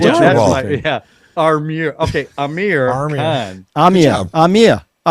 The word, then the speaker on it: Aamir: Well, So, you also pronounce it Armir, which I think is endearing. Amir. That you've never said Amir. You always say Armir with an R.